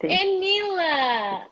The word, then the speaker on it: Enila: Hey, am I pronouncing your name correctly? Enila? Yes, perfect. Correct. Enila.